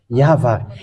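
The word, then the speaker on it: יהוה: how we read it in heaven of heavens yava and those who call that yava they washed away from their sin and they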